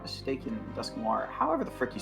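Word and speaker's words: Dusknoir: if i'm not mistaken dusk noir however the frick you say his name that's war is correct it's just noir with dusk in front of it so dust noir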